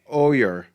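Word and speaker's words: O'er: And Oyer. I think I'm pronouncing that right. It's Celtic. Yeah, Oyer, like 302. It's like yeah? It's like over, but without the V.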